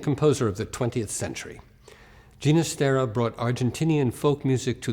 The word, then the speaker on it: Ginastera: the Hungarian folk culture genus Tara was born in Buenos Aires on April 11th 1916 his father been Catalan he preferred to pronounce his surname with a soft G early in his career